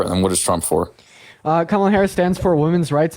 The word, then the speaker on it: Kamala: But I know her name is pronounced Kamala. If you could pronounce it correctly, thank you.